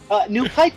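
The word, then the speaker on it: NewPipe: New Pipe is basically the YouTube Android app, except it doesn't do ads. Well, shit, I gotta download that. Is this spelled like it sounds? U-Pipe? Yep, New Pipe.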